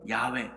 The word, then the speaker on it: 야훼: 4개의 단어로만 이루어져 있어요 그래서 이것을 잃는 방식이 다양해서 그래서 이것을 여호와라고 읽어서 오늘 본문에 나오는 여호와라는 이름이 여기서 나온 거고 나는 스스로 있는 자다이 이름이 여호와 그런데 요즘 새롭게 있는 방법이 달라졌다 해서 야훼라고도 부릅니다 그래서 여호와 또는 야훼 이게 하나님의 이름인 거예요